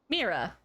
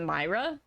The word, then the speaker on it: Mira: How do you think that first name is pronounced? Mira. Nope. Oh, is it Myra? Mm-hmm. Oh, Myra Maines.